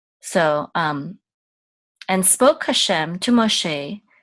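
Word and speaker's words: משה: And we're going to say sh. So this is mo, sh. And this is a sigol, and it's going to say e, and this hey will be silent. So she, mo, she, Moshe.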